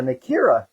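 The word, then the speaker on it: Nakiri: And again, this is a Nikita knife. Nikita. They call it the T, the R is pronounced like a T.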